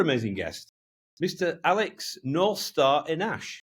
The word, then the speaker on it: Enache: Alex Northstar Enash. Is that right? Is that pronounced right? Correct.